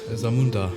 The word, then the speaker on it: Zamunda: the country zundo or zundo how would you pronounce that Zamunda Zamunda okay Zamunda Zamunda but it's a fictitious